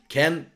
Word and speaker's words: Kean: Ken, I'm not quite sure how to pronounce it. Some people tell me Ken, some people call me Kean. Just call him Kean, not Roy Keane, but Moise Kean.